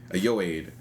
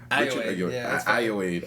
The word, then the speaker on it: Ayoade: How do you pronounce this? Ayoade. Ayoade.